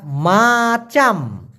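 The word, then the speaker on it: macam: কামড় দিলে বিশাল বিষ মাসাম এটা কিন্তু মাচাম না একটা হচ্ছে এম এ সি এ এম উচ্চারণটা মাচাম এই মাচাম মানে হলো রকম অথবা মত আর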